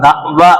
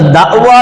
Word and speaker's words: தஃவா: அப்ப தவா என்பதும் தாவத் என்பதும் ஒண்ணுதான். நம்ம அதை தாவத்துன்னு சொல்றோம், சரியான உச்சரிப்பு தவா அப்படிதான் உச்சரிக்கணும்.